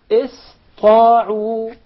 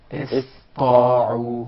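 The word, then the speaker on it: اسطاعوا: So it will be pronounced as Sin, not sad. Okay. Ista'u. Ista'u.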